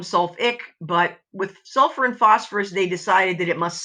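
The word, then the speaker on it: phosphorous: So the ite changes to us, but we do keep that extra syllable. It's not phosphus, it's phosphorus.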